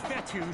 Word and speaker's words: Fetu: the 44 yd line so coach fetu spelled f Tu for the longest time I was pronouncing it coach feta like Feta cheese so let's just say